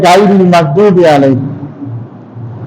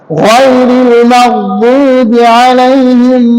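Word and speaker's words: غَيْرِ الْمَغْضُوبِ عَلَيْهِمْ: গায়রিল মাগদুবি আলাইহিম, অনেকে বলে গায়রিল মাগদুবি আলাইহিম, গায়নের উচ্চারণটা মোটা করতে হয়। গায়রিল মাগদুবি আলাইহিম ওয়ালাদ-দাল্লিন।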